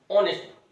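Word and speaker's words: honest: जैसे अगला शब्द लिखा हमने ऑनेस्ट, अब एच है, अब होनेस्ट नहीं पढ़ेंगे, इसे क्या पढ़ेंगे, ऑनेस्ट। ऑनेस्ट है, हिंदी में इसका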